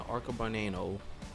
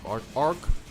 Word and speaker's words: Arcobaleno: So I had to actually see how to pronounce that. So yes, the Mar rings, the Vengola rings, and the Arcabaneno. I'll probably butcher that again. Arcobaleno.